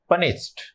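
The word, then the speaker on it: punished: बट in pronunciation, pronunciation के अंदर ये जो ईडी है इसका उच्चारण ट में किया जाता है, ड में नहीं होता है। ये भी आप थोड़ा सा माइंड में रखना। पनिश्ड होगा, नॉट पनिश्ड। पनिश्ड नहीं होगा, इसको कहेंगे पनिश्ड, पनिश्ड।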